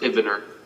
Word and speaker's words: Ehivener: Ehivener. It's pronounced Ivener.